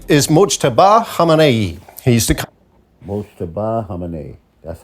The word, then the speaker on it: Mojtaba Khamenei: He's the Mojtaba Khamenei.